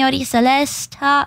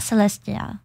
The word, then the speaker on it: Celesta: and it was Mi Celesta Celesta Celesta m not Celestia I someone I there